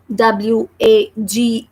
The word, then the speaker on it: wagon: of this word is W-A-G-O-N. And how we will pronounce this word, W-A, because the sound of W is V. The sound of letter A is A. So we are saying like Va.